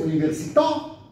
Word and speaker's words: università: If you say Università, French, Italiano, yeah? Last syllable.